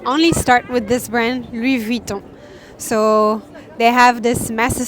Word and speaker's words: Louis Vuitton: And so about pronunciation, you say Louis Vuitton. This is how we pronounce, and not Louis Vuitton, like you would say in English. Louis Vuitton.